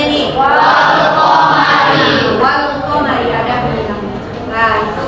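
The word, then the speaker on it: والقمر: Apa bacanya ini? Wal qamari ada bunyi lamnya.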